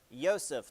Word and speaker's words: Joseph: Do you remember which Joseph this was by chance? Nah, that's okay. This one's multiple choice. Joseph II actually, sorry, Yseph because Austrian and they pronounce Javs differently.